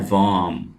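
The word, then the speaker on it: warm: वार्म, वार्म, वार्म का मतलब है गर्म, और यहां पे हम आर को नहीं पढ़ेंगे, ये वर्ड है वार्म।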